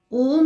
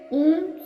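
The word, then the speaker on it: ॐ: उसकी ध्वनि में है उच्चारण में दोनों एक है नासिका की ध्वनि आनी चाहिए ओम संपुट के साथ ओम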